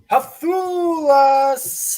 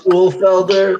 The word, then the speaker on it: Ulfelder: Introducing first, the Hafulas. I've definitely said that last name wrong, but get hyped. It's Ulfelder. That's okay. Ulfelder, wrote it down phonetically.